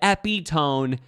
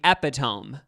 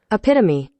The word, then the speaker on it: epitome: thought it was i thought like i said epi tone and it was actually epitome and i've heard this word before okay it's